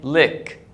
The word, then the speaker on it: lick: one with the I the I is it so I say lick lick so look Luke